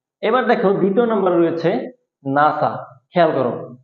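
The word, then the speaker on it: NASA: এটা হবে এব্রিভিয়েশন এবার দেখো দ্বিতীয় নাম্বার রয়েছে নাসা খেয়াল করো উচ্চারণটা খেয়াল করো নাসা এটাও কিন্তু একটা সংক্ষিপ্ত রূপ তবে নাসাকে কি আমরা এন এস এভাবে কিন্তু পড়িনি আমরা এটাকে নাসা একটা ওয়ার্ড আকারে পড়ছি একটা শব্দ আকারে এটাকে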